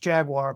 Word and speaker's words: Jaguar: Now you're what you're doing is your auto dealership, whoever it is, and it's pronounced Jaguar, by the way. Jaguar, Toyota, Hyundai, they become the depot, right?